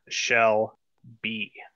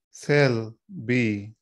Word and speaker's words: Shelby: So Shelby, you can start with the word shell. We know if it wouldn't be pronounced cell, it'd be a shell. So you can shell. And in this case, the Y sounds like an E. So it would be shell B.